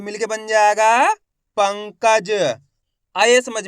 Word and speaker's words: पंकज: तो इसका उच्चारण आपको आधा ना के रूप में करना है। किसके रूप में, आधा ना के रूप में। कैसे करेंगे, एक बार फिर से देखिए। पाम अनुस्वार की मात्रा पंग, क ज, तो मिलके बन जाएगा पंकज।